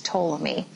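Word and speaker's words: Ptolemy: a geocentric model was toomi now when you pronounce toi's name the p is silent as I understand it okay so toam is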